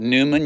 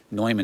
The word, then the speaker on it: Neumann: You want to call it Neumann, you can, but Neumann is how you actually pronounce it.